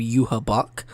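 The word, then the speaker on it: Juhabach: name's work uh but if you hear the actual Japanese pronunciation they call him you her Buck uh and so that's like j-u-h-a-b-a-c-h and there were some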